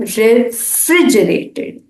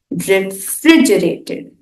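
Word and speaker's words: refrigerated: का उच्चारण करते वक्त स्ट्रेस या जोर दूसरे सिलेबल पर आता है तो बोला जाएगा रेफ्रिजरेटेड रेफ्रिजरेटेड ठीक है अब आगे बढ़ते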